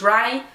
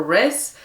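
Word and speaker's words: Rhy: and like, it's spelled, Rai is spelled R-H-Y, and when I read like R-H-Y and then apostrophe S for like Rice book or Rice whatever, I just kept wanting to call him Riz, and I was like,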